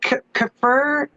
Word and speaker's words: Kfir: Kafir? How do you say Kfir, his name?